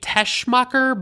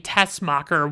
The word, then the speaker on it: Teschmacher: And the credits say that her name is Eve Teschmacher, but it sounds like they're saying Tessmacher without the H sound in it.